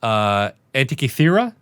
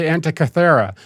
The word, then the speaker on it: Antikythera: So for absolutely no reason, Voller has the, I believe it's pronounced Antikythera machine.